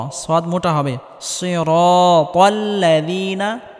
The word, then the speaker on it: صراط: সিরাতাল্লাযীনা আনআমতা, এখানে আইন গলার মধ্যে হালকা চাপ দিয়ে উচ্চারণ করতে হবে।